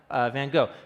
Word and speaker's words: van Gogh: Vincent come on now Vincent van Gogh yeah van Gogh now that's the American Way of pronouncing it I had someone of